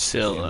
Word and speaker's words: Scylla: It finished up beach at the Scylla. entrance to the harbor. That's how you pronounce it.